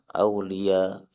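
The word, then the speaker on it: أولياء: Ketika ada Hamzah di akhir dan kita berhenti, maka Hamzahnya bisa dihapus. Sehingga bacanya apa? Aulia. Enak kan? Kalau qiraah Asim harus panjang. Aulia harus 6. Karena dia itu apa? Mad wajib. Kalau kita pakai qiraah Hamzah enak. Aulia. 2 harakat selesai.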